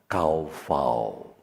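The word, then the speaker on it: קָוָה: Tapi kalau dibacanya, seperti ini lafalnya, kaufau.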